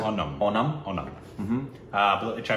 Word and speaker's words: Onam: called I believe well that's o n a m and I think that's how you pronounce it on onum onum mhm uh which